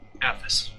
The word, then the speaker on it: Aethys: Athos. Athos. We both got caught. Aethys. Stun. Arthas. No R there.